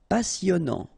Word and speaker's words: passionnant: Passionnant. Okay, here you pronounce the double S because you've got a vowel, so it's really a strong one. Passionnant. Final T not pronounced. And then here you get this en sound. Passionnant.